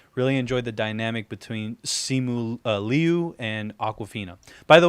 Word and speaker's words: Simu: enjoyed the dynamic between simul liu and aquafina by the way if anybody's wondering how you pronounce simulu his name is simu so s-i-m-u simu and then his last